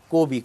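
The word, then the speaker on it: Kobe: তো মিউজিকের প্রসঙ্গে পরে আসি, তো তার নাম যদি আমরা বলি কবি, কয় ওকার দিয়ে কবি উচ্চারণ করি, আর যদি কবি বলি, পয়েট বলি, তো এক ধরনের কবিও ছিলেন আপনার কোবি ব্রায়ান্ট। 2016 সালে তিনি ছাড়লেন খেলা।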